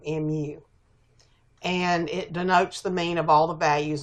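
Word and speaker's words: μ: which is a Greek lowercase M and it's pronounced mu mu and it denotes the mean of all the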